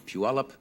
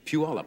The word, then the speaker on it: Puyallup: If you are looking at these lovely flowers, I think these are sent, as they are every year, by the Puyallup Daffodil Festival in Puyallup, Washington.